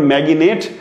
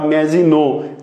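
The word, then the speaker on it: Maginot: এখানে ম্যাজিনো লাইনের উচ্চারণ ম্যাগিনেট অনেকে করে থাকে, ম্যাগিনেট বা ম্যাজিনো যেটাই বলেন সমস্যা নেই।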